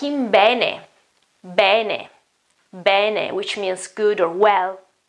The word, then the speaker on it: bene: Va bene. Well, this is a case in which I would say bene, while the correct pronunciation is bene, with an open E at the beginning.